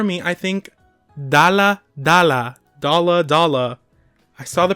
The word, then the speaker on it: Dalla Dalla: Like I say it Dalla Dalla, like but but I'm I'm pronouncing the D, but I I don't know what to say.